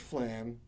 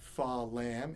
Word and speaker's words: flam: rudiment should sound like it's got one syllable not two it's not far lamb it's flam but there are two distinctly different sounds the f sound is almost a grace note to the primary which is the lamb sound flam one syllable so